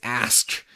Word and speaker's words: ask: Like, somebody says they want to ask you a question. I'm like, no. It's ask. Axe is something that you, like, chop wood with.